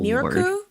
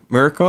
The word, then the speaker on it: Mirko: Oh, Miriko? Mirko, I think is how you say her name. Mirko.